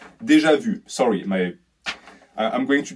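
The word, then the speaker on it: déjà vu: is just having constant deja vus because i already know that i just pronounced deja vu's deja vu sorry my i'm going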